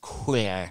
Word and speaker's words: couloir: Couloir. Oh, say it like a Frenchman. Couloir.